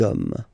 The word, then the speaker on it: hommes: You don't pronounce it, so you get des hommes.